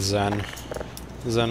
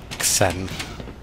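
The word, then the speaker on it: Xen: what they did with Zen is one of the later levels assuming you pronounce it Zen and not sen that would be absurd wait a minute do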